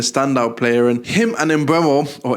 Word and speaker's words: Mbeumo: He's been a standout player, and him and Mbeumo, or Mbeumo as people are telling me is pronounced, they've both been players who have shouldered a lot of the responsibility for their respective teams.